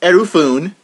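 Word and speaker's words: エルフーン: But this guy, whose Japanese name is pronounced Erufune, has a grass type, has a lot of really crippling non-attacking moves.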